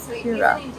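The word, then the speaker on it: Pirra: Pira.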